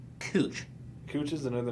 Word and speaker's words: Couch: voted that exactly but they pronounce it as cooch cooch is another name